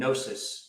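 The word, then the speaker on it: gnosis: there's a more ancient word uh for this called nosis spelled with a G um and it's an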